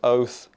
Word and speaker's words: Oath: major lifestyle company, and I believe it's pronounced Oath. It's OATH. I gather that's what it is, like oath as in saying oath.